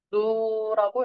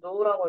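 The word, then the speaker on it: ν: 또 알아야 될게 자유도라는 자유도는 기호가 노라고 읽는데요 브랑 비슷하게 생겼지만 읽을 때는 노라고 읽어 주시 그래서 자유도는 누로 표현을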